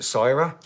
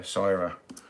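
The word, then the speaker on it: Syrah: before this is great it's uh I'm gonna pronounce it Cyra s-y-r-a-h is this really beautiful deep deep blood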